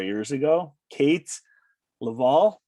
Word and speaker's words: Leavell: Leavell. It just kind of rolls off the tongue. I always tell people when they can't spell it that it's leave with 2 L's on the end, and people are like, oh yeah, that's great.